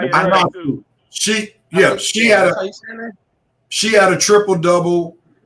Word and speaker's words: Ionescu: Sabrina Ionescu, how you pronounce her last name? Yeah, the girl. Ionescu.